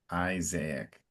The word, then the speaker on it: Isaac: So it's Isaac in English. So it's an open I and an emphasis on the first I. Isaac.